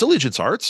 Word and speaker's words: Allegiance Arts: Arts am I saying it wrong no it's Allegiance Arts yeah you're right on it you know what